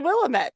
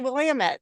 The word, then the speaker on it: Willamette: Willamette River, and I realized I had been mispronouncing it my entire life. I always thought it was the Willamette, and then I got out here and the Oregon natives told me it's the Willamette.